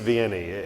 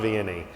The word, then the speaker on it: Vianney: parish priests that is saint john marie baptiste viennese if my french was better i would probably pronounce all that better but as i say in the midwest saint john vianney and he was a